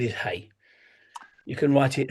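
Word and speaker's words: 氣: So the word is hey.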